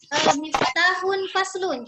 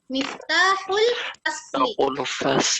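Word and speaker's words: مفتاح الفصل: Kita digabungkan, tidak boleh kita membacanya miftahun faslun, tetapi miftahul fasli. Ya, miftahul fasli.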